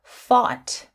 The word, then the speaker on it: fought: Again, we have another word here, fought, which has that same ot with the short O sound.